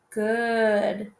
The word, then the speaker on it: good: makes its normal sound good good these two are rule breakers here because we know that o's really sound like ah ah octopus but i'm not gonna say god right this doesn't say odd this says good good so they use here are rule breakers too good okay the rest